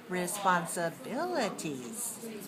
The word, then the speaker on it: responsibilities: lot longer respond responsibilties how many syllables are in this word responsibilties responsibilties I have six do you have six okay where's the stress responsibilities responsibilities responsibilities where's your stress four right okay look